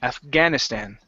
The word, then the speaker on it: Afghanistan: this is Afghanistan so the stress is right here in the middle Afghanistan Afghanistan mhm okay and last